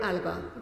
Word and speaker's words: Alaba: Alaba. Did I pronounce that correctly?